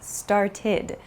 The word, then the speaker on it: started: So for example, start becomes started. It has an ID sound.